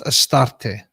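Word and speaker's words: Ashtoreth: And it's obviously it's been pronounced as Astarte, right? But Astoret is probably a better pronunciation.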